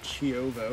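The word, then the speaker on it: Čiovo: on the island of Ciovo. Is that how you say it? I think so. Ciovo. Ciovo? Ciovo. Ciovo. They say their C is like ch, like chow.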